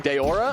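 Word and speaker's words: Daora: character he is playing Deora I believe that is how it's pronounced d a o r a uh who is like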